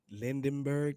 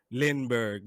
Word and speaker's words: Lindbergh: But we got a new guest, old Lindenberg, is that right? Lindbergh. Lindbergh. All right. My bad mispronunciation.